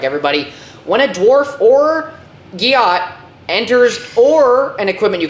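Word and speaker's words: Giott: Guillot.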